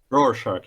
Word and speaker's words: Rorschach: Is that how you pronounce his name? Rorschach? Rorschach, yes.